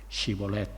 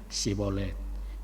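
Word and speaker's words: Shibolet: no Entonces le decía si di ahora cibolet Y él decía sibolette por qué no has acertaba a pronunciarlo correctamente Entonces lo sujetaban y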